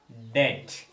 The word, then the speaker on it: debt: B before word final T is silent. B before unde final T unte that letter is silent. For example, doubt, debt.